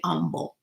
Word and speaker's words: humble: Or maybe you say humble. Like the H is silent.